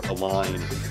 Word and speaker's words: align: For example, limbs and death intersect each other with a silent B, or a line and right intersect with a silent G.